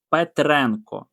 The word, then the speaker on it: Петренко: Петренко на енко наголос.